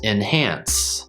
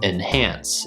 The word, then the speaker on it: enhance: in but when i speak more quickly enhance enhance i'm almost going straight to that n sound and the the short i sound becomes more of a schwa sound enhance and and so i would say the first